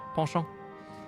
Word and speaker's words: penchant: You gave that the French pronunciation? Yeah, penchant.